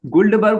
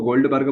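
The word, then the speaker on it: Guldberg: जो गुल्डबर्ग और वेगे थे, ठीक है, कुछ लोग उसको गोल्डबर्ग बोलते हैं लेकिन गोल्डबर्ग अलग होता है, गुल्डबर्ग होता है।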